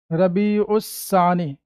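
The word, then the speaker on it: ربیع الثانی: रबी सानी क्या लिखेंगे रबी उसस सानी ठीक है लगा दो त शदीद रबी उ सानी उर्दू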